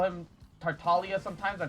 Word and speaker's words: Tartaglia: um also crosstalk why do you call him tartalia sometimes or tartaglia others uh i know it's supposed to be